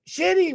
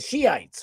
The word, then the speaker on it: Shiites: But the shitty ones, the shoot. What are they? I've been saying it so wrong. The Shiites, right? It's spelled shitty.